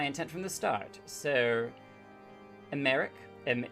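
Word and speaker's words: Aymeric: the the the um the emphasis is on the first syllables it's america america oh i see americ um like cleric americ um also he's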